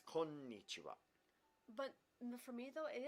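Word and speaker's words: こんにちは: Yeah, anytime there's a doubled consonant, you get a pause. So konnichiwa, you hold that n sound. So konnichiwa, Konnichiwa.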